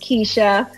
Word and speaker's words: Quisha: on facebook um under keisha and yes it's spelled with a cue but it's pronounced keisha um so just follow